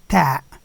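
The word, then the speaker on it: تاء: Then we have the letter Ta. Ta. And Ta is very close to the one that we use in English, as in 10.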